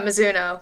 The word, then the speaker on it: Mizuno: Am I pronouncing that correctly? Mizuno. Yeah, Mizuno, like the Japanese brand.